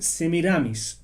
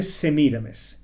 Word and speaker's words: Semiramis: de nimrod se llamaba se mira vez algunos la pronuncian semiramis pero aparentemente según la forma en que se escribía en estos idiomas antiguos debe decirse se mira mes ella estaba casada con